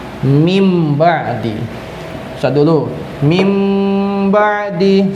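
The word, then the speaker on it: مِن بَعْدِ: Ya, tulisannya adalah min ba'di, tapi dibacanya berubah menjadi mim ba'di.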